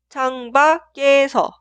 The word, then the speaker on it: 창밖에서: Y siguiente se escribe así, pero suena 창밖에서, 창밖에서, 창밖에서.